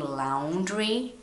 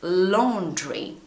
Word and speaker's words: laundry: When you read this word and you are Brazilian like me, you are probably saying laundry, but it's not. It's laundry.